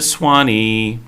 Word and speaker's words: Zuany: So everybody say hello to Swanee. That's Zuany. Yeah, it's pronounced with an S. And it's a lot like the Nicaraguan word tuani, which means cool. So she's kind of Swanee.